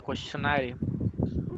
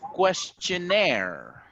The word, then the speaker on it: questionnaire: who will decide the questionary very nice oh the pronunciation for this one is questionnaire the questionnaire very very